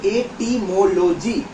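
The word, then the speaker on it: etymology: হল বর্ণ প্রকরণ সেকেন্ড আমরা আসবো ইটিমোলজি এটিমোলজি উচ্চারণ হচ্ছে এটিমোলজি ইটি ওয়াই এমও এল ওজি ওয়াই এই এর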